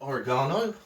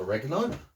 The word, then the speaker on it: oregano: A can of chopped toms, a can of tuna, and then some dried oregano or oregano, depending on how you wish to pronounce it.